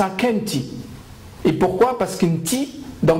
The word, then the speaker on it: Akhenaton: Akenti, les Égyptiens vont dire Akhenaton, alors que c'est Akenti.